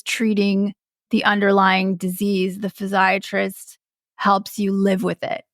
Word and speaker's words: physiatrist: that I see a physiatrist and whenever I say that people think I'm mispronouncing psychiatrist but I mean physiatrist and I see her